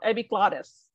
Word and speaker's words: epiglottis: accent coach is like when you see that little Double T between um like in English you see the deputy between two uh vowel but actually most Americans will pronounce this as a d so epic Gladys yep it's a little softery so it's like they call us a flap T So epiglottis epiglotted okay